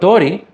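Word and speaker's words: 通り: But tori, with a long first syllable, that's two moras, and then a second syllable that's one mora, I believe means street.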